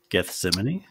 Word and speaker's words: Gethsemane: um how do you say that Geth gethseman Gethsemane yes that so like somebody dropped a nuke